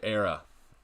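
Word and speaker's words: Éire: we FPL Big Willie how do you say era FPL Big Willie reporting for Judy era is how you say it um like like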